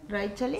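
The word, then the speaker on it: Raíchali: Raí, lo dijiste bien. Raichali.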